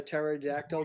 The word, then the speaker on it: pterodactyl: Oh, why can't you hear a pterodactyl go to the bathroom? A pterodactyl go to the bathroom because the P is silent.